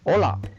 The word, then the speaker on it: hola: is letter a right how to pronounce look at this example hola hola we learn ola mean Hello so no sound or silent right the next letter